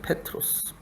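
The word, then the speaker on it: Πέτρος: 너는 베드로다라고 하시죠.이 이 베드로라는 말의 정확한 헬라어 발음은 주석에도 나와 있지만 페트로스입니다. 페트로스.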